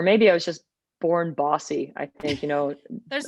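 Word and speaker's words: BAWSI: and marlene bjorn's room which we named the berry one sports initiative which is pronounced bossy um that was like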